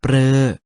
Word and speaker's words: ฤ: ข้าง ต้น มี เหมือน กัน ก็ คือ สระบุรึ รือ รับ สรึ ยัง สามารถ อ่าน ได้ อีก 2 แบบ นะ ครับ คือ ริ ลิ กับ เรอ ทำ ให้ สละ ตัว นี้ ออก เสียง ได้